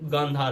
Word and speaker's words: गांधार: Actually इस time पे उसको कांधार बोला जाता है because of miss pronunciation, but actually वो गांधार है जहाँ की गांधारी थी, जो कि कौरवों की माता थी महाभारत में।